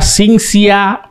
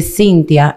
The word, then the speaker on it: Cinzia: Entonces, como aquí lo leen como se pronuncia, me llaman Cintia. Oh. Entonces, ¿Chi con CH? No, sin la H. Sin la H. Exacto. Lo que pasa es que se pronuncia así, pero se escribe así, Cintia.